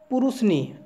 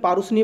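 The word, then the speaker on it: পরুষ্ণী: ছিল তো মনে রাখবে রাবি নদীর আগের নাম ছিল পুরুষনি বা অনেকে পারুসনি বলে কিন্তু এখানে উচ্চারণটা একচুয়ালি এখানে বানানটা ভুল লেখা আছে এটা হবে পুরুষনি পুরুষনি ঠিক আছে বা পারুসানী যেটা বলবে সেটা ক্লিয়ার দেখো নাম্বার 19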